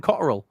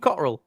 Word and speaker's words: Cotterill: Yeah, no, don't pronounce the T. The T's fucking a silent word in his name.